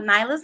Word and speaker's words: Nailah's: no different now am I pronouncing is it nyla's nyla's Naturals yes nachos I want to make sure I said that right we have the owner without Theta here the owner of nyla's Naturals with us today she's gonna let us